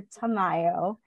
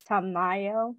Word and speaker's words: Tamayo: It's actually Dr. Tamayo. Ah, the second pronunciation. So, yes, sorry about that. In the Philippines, we don't really have an A. Everything is a very hard A. So Tamayo.